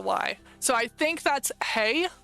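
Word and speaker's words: hej: here we have hey the J is pronounced like a English y hey hey hello that one I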